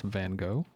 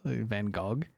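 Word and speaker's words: Van Gogh: guess but Americans pronounce Van Go I mean is it seriously van golf the GH is a g sound what I'll stick with a bingo call Van Gog no no not going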